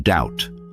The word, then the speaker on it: doubt: Take the B in doubt. It connects to dubious which means uncertain or skeptical. Even though we don't pronounce the B, it helps show the connection between the two words.